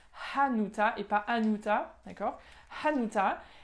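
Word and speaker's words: Hanuta: c'est des mutins avec bien le hb qu'on prononce anota et pains uta d'accord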